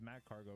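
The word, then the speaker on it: Magcargo: His name is Mag Cargo. I've been saying his name wrong.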